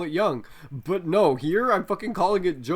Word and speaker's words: Jung: course about fate again at least it's not jung true young you mean whatever i pronounce the